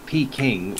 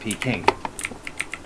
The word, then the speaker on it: Peking: They're both pronounced like Beijing. It's just that Peking was the an earlier way to transcribe it.